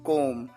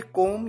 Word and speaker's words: comb: बाल बना लो, कोम the hair, COMB कोम। इसकी प्रोनाउंसिएशन होती है कोम, यहां पर बी साइलेंट होता है।